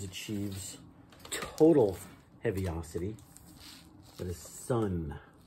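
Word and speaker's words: Sunn O))): know okay that's that's sun oh sun not oh you don't pronounce the o it's just sun okay you guys know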